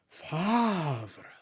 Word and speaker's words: Favre: And I added a shiny gold refractor, Favre. And that's how you pronounce it, by the way.